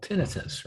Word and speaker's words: tinnitus: little bit more about, and I'm sure called tinnitus, right? That's how you pronounce it, tinnitus?